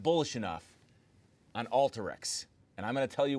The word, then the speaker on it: Alteryx: I wrote a bull of the day on Alteryx and that's the way you pronounce it you might hear people say Alteryx but company pronounces Alteryx like the word alter I so I published